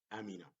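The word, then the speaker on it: أمِنَ: Here, amina, like one word, there is no syllables, only one syllable.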